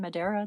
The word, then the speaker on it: Madero: So, your book um is all about uh Francisco I Madero. Now, um I may not be pronouncing that in the correct way. It's fine. It's fine. Madero, that you got it.